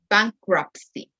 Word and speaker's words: bankruptcy: Bankruptcy is a little bit hard to pronounce. Bankruptcy, crap. Esa crap suena como mierda. Como holy crap, bankruptcy. Okay, has the same pronunciation.